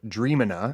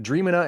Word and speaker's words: Dreamina: tool an image generator called damina at least I think that's how it's pronounced d r a m dream i n a so forgive me if